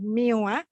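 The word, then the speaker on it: μ: This is pronounced as mu, means the mean, the population mean, plus, so this is the first one.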